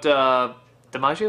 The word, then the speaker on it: DiMaggio: And, I also like the fact, too, that the voice actors in this one, like, we were just talking about, DiMaggio, is that how you say his name?